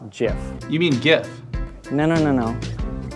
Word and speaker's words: GIF: today we're talking about gifts actually it's pronounced jiff you mean gift no